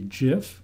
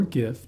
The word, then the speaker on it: GIF: to upload a banner there's a Jif or gif depending on which way you pronounce it a JPEG or a